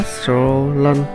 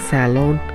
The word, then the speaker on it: Sorolon: Chùa có tên theo tiếng Khmer là Wat Sorolon, để dễ phát âm từ Sorolon được đọc chạy thành tiếng Xà Lôn.